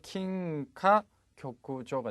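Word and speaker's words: 金科玉条: 발음은 C의 킹카 교쿠조가 되죠.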